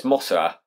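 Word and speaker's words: モスラ: how it's said so mothra in japan is pronounced masala it's mosura what does mossada sound it sounds like mothra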